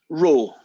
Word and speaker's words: rho: It's actually a Greek letter, that fella, but pronounced, at least in Britain, rho.